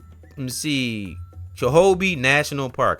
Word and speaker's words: Chobe: Chobe National Park. I might not pronounce that right. Let me see. Kobe National Park. It's CHOBE National Park.